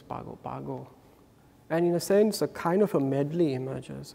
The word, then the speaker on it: Pago Pago: And in his village in Sumatra, these are described as Paga Paga. But colloquially, they're pronounced as Pago Pago.